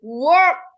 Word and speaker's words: work: Kalau ini, yang atas ini work, bukan work. O-nya nggak jadi bulat. O-nya nggak bulat.